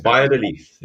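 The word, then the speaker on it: Valladolid: Biodel. At the beginning is with a B and at the end it's like a leaf. Biodel leaf.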